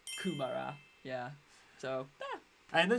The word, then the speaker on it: kumara: it's more of a it's a Maori word but uh kumara or kumara oh mostly how we've heard it pronounced it's just kumara yeah so yeah and